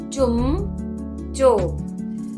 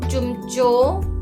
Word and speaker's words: चुमचो: चुमचो। क्या बोलेंगे? प्रोनाउंस कैसे करेंगे आप? हे चुमचो आए, चू मा चो, चुमचो आए।